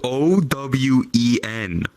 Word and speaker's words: Owen: Owen is spelled O-W-E-N.